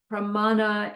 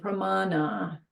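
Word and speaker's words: प्राण: sea is is Tibetan Prana is sanskrit it's short a long a short a Prana Prana Prana I always say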